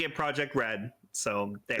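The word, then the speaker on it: Project R.E.D.: And we'll be militant about pronouncing it Project Red.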